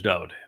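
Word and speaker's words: דוד: And I use Dode David because his name is Dode. Every song he wrote, his mizmor, his psalms, in his own hand, his name is spelled Daleth Wah Daleth.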